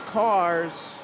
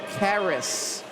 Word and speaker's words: Caris: I reverted to the Google machine, so next heat, lane one, I've been saying Cars. Google's telling me rhymes with Paris, so Caris.